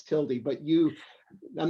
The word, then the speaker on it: tilde: avoid mansplaining but it's it's tildy however you want to pronounce it's your own business but it's the tilde it's a little squiggly thing but it's it's tilty but you i'm not